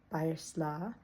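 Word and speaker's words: баярлалаа: A word that a lot of foreigners tend to pick up, it's said a lot, is thank you, which is pronounced bayersla.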